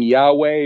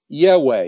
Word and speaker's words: Yahweh: They might be familiar with people saying Yahweh or Yahuwah or something like that. I pronounce his name Yahweh.